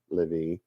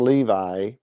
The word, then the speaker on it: Levi: The third son of Jacob and Leah was named Levi. It's the tribe descended from Levi, or Levi to say it right, especially set aside by God for his service.